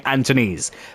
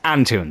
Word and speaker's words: Antunes: frenches pronunciation to it I think I was saying anones but no it's antunes so yeah apologies if